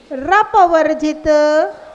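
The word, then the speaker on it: अपवर्जित: निर्धूम वर्ती रपवर्जित तैलपूर। निर्धूम, देखिए जब हम उच्चारण कराते हैं ना तब आप अच्छे से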